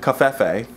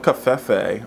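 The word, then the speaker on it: covfefe: Don't cafefe on my coffee. Cafefe. Don't cafefe on my face. I feel like it was a harder, for me, it was like a harder V. Like cafefe or cafefe?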